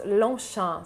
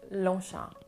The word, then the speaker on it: Longchamp: french it's more sha so it's longshan so the g and the p at the end are silent which makes lonsha next we have another